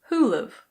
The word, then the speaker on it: who'll've: Who will have becomes who'll've.